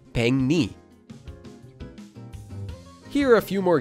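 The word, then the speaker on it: 백리: For example, in this word, pek ends with a kiok, and the next syllable, li, starts with a lir. So here, the kiok at the bottom will change to become an iang, and the lir at the start of the next syllable will become a nian. When we make these changes, we get peng and ni, or together, peng ni.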